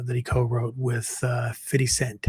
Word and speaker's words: 50 Cent: he co-wrote with uh 50 Cent. I think that's the correct way to pronounce it. You know, I'm a white guy. I would just say 50 Cents, but apparently that's not right.